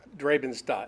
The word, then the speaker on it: Drabenstadt: How do you pronounce it? Drabenstadt.